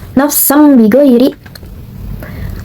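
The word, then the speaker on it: نفسا بغير: Hukum tajwidnya yaitu iklab, karena terdapat tanwin bertemu dengan huruf ba. Cara bacanya suara nun mati atau tanwin dirubah yang asalnya berhuruf dibacanya tuh n dan ini menjadi m seperti ini. Nafsam bighairi.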